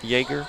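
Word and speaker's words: Jaeger: Brody Yeager there, I believe. Is that, would you say that's how you say that, Brother Jack? I would say J-A-E-G-E-R, Yeager? I would say yes, but if we're Otis saying it wrong, Timbuktu.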